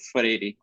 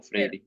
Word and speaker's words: Freire: How do you all pronounce his name? Paulo Freire. Paulo Freire.